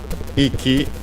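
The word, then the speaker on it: 息: Maybe also this very uh compound icky accented on the first syllable means breath breathing.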